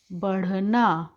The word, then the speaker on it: बढ़ना: अगर हम नीचे इस तरह से बिंदी नहीं लगाएंगे तो इसका उच्चारण हो जाएगा पढ़ना, क्योंकि ढ से ढक्कन हम लोग पढ़ते हैं ना, लेकिन यहाँ पे ढ जब हम बिंदी लगा देते हैं तो उच्चारण हो जाता है ढ, बढ़ना।